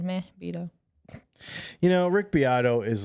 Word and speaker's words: Beato: You know, Rick Beato is like Is that how you say it?